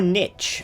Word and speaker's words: niche: opportunity find a new Niche or Niche apparently as it's sometimes pronounced and if I have